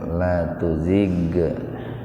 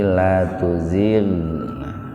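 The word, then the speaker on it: لَا تُزِغْ: Ghain itu bukan huruf kol-kolah. Jadi membacanya jangan dipantulkan. Jangan la tuzig, tapi la tuzir.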